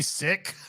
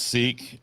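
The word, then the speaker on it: Sikh: the sick cultural Society am I saying it wrong is it supposed to be sick no it's seek you're saying it right he says when the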